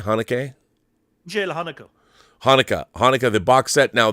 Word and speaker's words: Haneke: And then Michael, how do you pronounce it? Haneke? Michael Haneke.